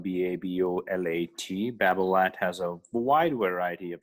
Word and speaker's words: Babolat: we'll put that on the side note uh it's spelled b-a-b-o-l-a-t babel at has a wide variety of shoes uh uh